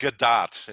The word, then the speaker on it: Gadot: Just Gadot is how it's pronounced. Yeah. You know? It's like dot with a G in front of it.